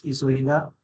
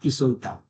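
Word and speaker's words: 急いだ: So for isogu, it's isoida and not isoita.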